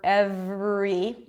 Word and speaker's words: every: in vary and every the are in vary and every it's the same are it's just a little harder in every because it appears after a consonant so you might want